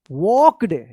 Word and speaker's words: walked: द old castle looked wonderful, we walked, यहां पे L silent रहेगा, walked through, THROUGH, थ्रू, देख लीजिए इस तरह से आपको लिखना अगर है तो इस तरह से लिखिएगा, थ्रू।